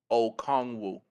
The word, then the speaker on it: Okongwu: The pronunciation is Onyiku Okongwu.